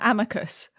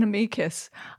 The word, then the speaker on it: amicus: Now, just to start with, Steph, I call it an amicus, you call it an amikus. I think both are potentially okay, but I'm just want